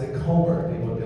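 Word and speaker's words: Colmer: Collins was it was a lot easier to pronounce than Comr, which I can never pronounce. So I always pronounced it Comr. People would be like C O L M E R. Like no, no, no, no. Comr.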